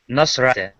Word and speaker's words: Nasrat: Rat is I think it's Nosrat. Oh, I The missed a last.